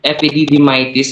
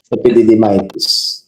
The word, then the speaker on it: epididymitis: Tapos yung body part is the epididymis. Tapos itis indicates inflammation. So, epididymitis. Yun yung vernacular. Yun yung usual. I'm sure pag pumunta kayo sa ibang bansa, yun iba yung pagbigkas nila. Pero dito sa Pilipinas, yung American English natin, more of American English tayo. So, epididymitis yung pronunciation natin.